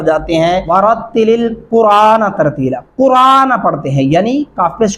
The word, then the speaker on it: القرآن: نون زبر نہ قرآن، یہ را کے اوپر کھڑی زبر لگا دیتے ہیں، جو کہ بالکل قطعاً غلط ہے، سراسر غلط ہے۔ اب اس کو کیسے پڑھنا ہے؟ قاف پیش را اور الف کھڑی زبر آ، نون زبر نہ قرآن ترتیلا، او زد علیہ ورتل